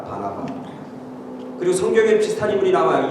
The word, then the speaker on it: 바나바: 근데 바나바는 이 발음을 잘해야 돼. 바나나가 아니라 바나바.